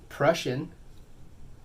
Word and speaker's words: Prussian: We have the Prussian hue, blue hue, whatever. I've been mispronouncing it this whole time. I've been calling it Persian hue, blue hue, whatever.